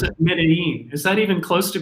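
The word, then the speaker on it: Medellín: It would be correct, but if you are Colombian, you would say Medellin. Medellin. So the two L's or a Y would be like a J, Medellin.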